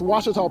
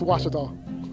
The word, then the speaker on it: Ouachita: How would you pronounce it? Ouachita. Ouachita. It's Ouachita Baptist University. Get it right. It's Ouachita, people. It's Ouachita. Ouachita.